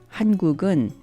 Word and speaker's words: 한국은: I didn't say 한국은, but rather 한국은 without any pause in between 한국 and the particle 은? This is what I meant when I said a word and a particle combo will be pronounced like one word.